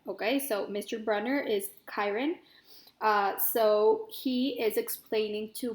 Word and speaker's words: Chiron: been pronouncing it like Sharon and then I looked it up and it turns out we pronounce it like Chiron okay so mr. Brunner is Chiron so he is explaining